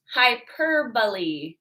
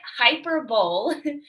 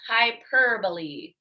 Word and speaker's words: hyperbole: And this one is pronounced hyperbole. So it looks like hyperbole, but it's pronounced hyperbole.